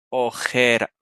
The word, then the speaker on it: ojera: la J es decirles que pronuncien oreja m oreja y también ojera o sea orejas y ojeras MM y si te fijas van a pronunciar las dos palabras si lo pronuncian mal van a sonar igual van a decir ojej